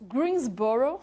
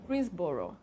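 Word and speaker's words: Greensboro: Greensborrow, assim que se pronuncia. Greensbor. Greensborrow.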